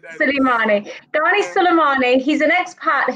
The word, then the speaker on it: Souleymane: So Ghani Souleymane, have I pronounced your name correctly? Yeah, Souleymane. Souleymane.